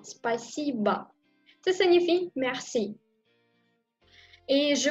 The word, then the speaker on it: Спасибо: Спасибо. Спасибо. Спасибо. S-P-A-S-I-B-O. Спасибо. Et encore, je prononce A à la fin. Спасибо.